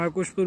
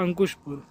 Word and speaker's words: अंकुशपुर: आकुशपुर railway station में, जैसे हिंदी में या लोकल लैंग्वेज में आकुशपुर बोलते हैं, और जो कि परफेक्टली प्रोनाउंस होता है अंकुशपुर। वो असल में परफेक्टली जो प्रोनाउंसिएशन है उसकी अंकुशपुर है, वहाँ पे हैं।